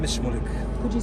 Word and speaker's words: Shmulik: My name is Shmulik. Could you spell it for me, please?